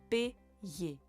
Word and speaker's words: payer: the second part of the Y becomes the Y sound, so we have payer, payer.